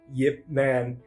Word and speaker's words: Ip Man: a why a Lacroix of a y on the beginning of that I sound Yip Man and uh it you